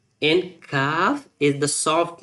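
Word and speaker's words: كاف: But kaf, you can say it very softly in the low voice to differentiate between kaf and kaf.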